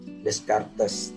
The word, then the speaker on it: Descartes: jasa disebut bapak filsafat modern itu decal Hai bacanya decub Ya Descartes PK Rene dekat dari Renu tekad itu mengatakan